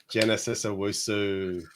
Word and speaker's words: Genesis Owusu: Yes, so, I couldn't pronounce him. Can you say it again? Genital. No, don't say that. Genesis Owusu.